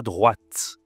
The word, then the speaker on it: droite: On voit donc maintenant attention la troisème direction c'est à droite. À droite. Ici tu dois prononcer le T parce qu'il y a un E.